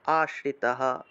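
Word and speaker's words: আশ্রিতঃ: कर्तुं মদযোগমাশ্রিতः, বিসর্গ থাকায় হ উচ্চারণ, আশ্রিতः।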